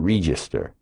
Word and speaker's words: Register: Register. Spelled like the cash register, but you pronounce it re, as in reefer.